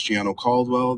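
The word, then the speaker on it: Gianno Caldwell: My name is Giano Caldwell. that is spelled G I A N O Cwell C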